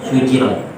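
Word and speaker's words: سُجِرَتْ: Ibnu Katsir dan Abu Amr membacanya dengan jim yang diringankan tanpa tasydid sehingga menjadi sujirat.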